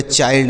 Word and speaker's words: child: Next है, अब देखिए, अब एक चीज़ और हमने बताया कि अगर LD हो, आई के बाद LD हो तो भी उसका उच्चारण आई ही होता है।